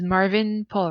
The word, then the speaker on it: Marvyn Paul: me and um hopefully I don't say your name wrong is Marvin Paul right yes that is absolutely correct okay great